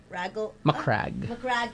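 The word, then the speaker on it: Macragge: Yeah, It Macrag and rhymes. Macdo. It's, It rhymes. yeah, it does rhyme. The Mac part.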